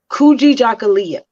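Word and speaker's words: Kujichagulia: word is kuji jakalia it took me a very long time to learn how to pronounce that word kuji jacquelia correct yes like a month and a half to figure out how to pronounce that properly but yes that self-determination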